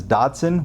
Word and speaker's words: Dodson: His name is Dodson which rhymes with Watson.